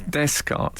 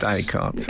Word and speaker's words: Descartes: René Descartes, the philosopher, was described by Al as Descartes Yeah. instead Yes. of Descartes.